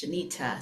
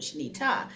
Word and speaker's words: Shenita: They didn't know how to pronounce Shenita. So I thought say tada and then you'll remember Shenita.